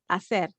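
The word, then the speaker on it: hacer: a verb to do if you notice i didn't pronounce the h and you say acer the same case here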